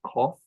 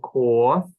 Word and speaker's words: koth: Cornish, you'll tend to pronounce the word for old as koth instead of koth, or the word for child as floch instead of floch.